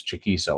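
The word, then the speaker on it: Chaquico: some years back and they put his name phonetically and it was chiso unless he's got it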